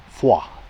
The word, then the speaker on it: Foy: see in the distance the town of FO or Foy as the Americans would pronounce it a little